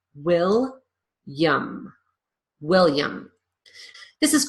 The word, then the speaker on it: William: I pronounce the L I lose that middle syllable completely and then I use a consonant Y sound in the last syllable will yum William this is called